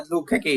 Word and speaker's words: Dlugokecki: Yeah, Dlugokecki is perfectly fine, actually. It's a Polish name.